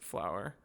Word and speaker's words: FLAOWR: My gamer tag is FLAOWR. pronounced flower.